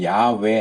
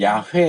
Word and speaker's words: 야훼: 이제 어떤 분은 야회 이렇게도 하지만 회는 잘못된 발음이에요. 야외예요. 그러니까 우에다가 에. 예, 순복음께서 그렇게 발음하는데 회라고 발음하면 안 돼요. 야외 또는 야외 이렇게 해야 맞는 발음이에요.